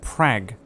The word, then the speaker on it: Prague: You just said Prague. And it's pronounced Prague. Okay? And if you pronounce it any other way, you're a fucking bellend.